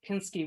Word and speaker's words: Pinsky: Pinsk had a river, a sawmill, but where I grew up, Pinsky with a short I was a local name.